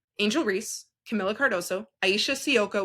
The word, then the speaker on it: Sivka: Reese, Camila Cardoso, Aisha Sioka, which I know everyone's saying Sivka. Her name is Aisha Sioka. That's how you say her name.